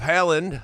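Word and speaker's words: Haaland: Number one, if Haland Haland, how do you say it? Holland.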